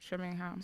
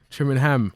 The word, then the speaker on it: Trimingham: Trimingham. Yeah, Trimingham. Okay, cool. How do you say? I say Trimingham, innit? But I yeah, speak but fast. some people say Trimingham.